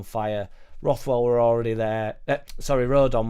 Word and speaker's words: Rodon: Rodon were already there. Or Rondon, depending on who you're listening to.